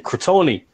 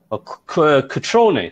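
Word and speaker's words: Cutrone: Crotone. Catrone, sorry, say his name properly.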